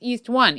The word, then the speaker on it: EA1: But then they actually tell you this is how you're supposed to pronounce these things. East 1, East 2.